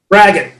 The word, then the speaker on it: braggot: Braggot.